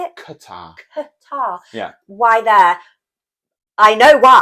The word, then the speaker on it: Qatar: What do you think about a World Cup being somewhere like Qatar?